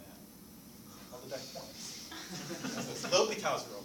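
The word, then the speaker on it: L'Hôpital's: L'Hopital's rule. Not Loopy Hospital?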